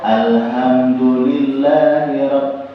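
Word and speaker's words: الحمد لله: di ha J ha karena di alham itu hanya bukan Ha besar tapi ha kecil ya Jadi kalau ha kecil itu bacanya narik ditkan alham alham yang saya baca awal apa Alhamdulillah hamnya buang napasnya getarannya di dada itu berarti hanya bukan H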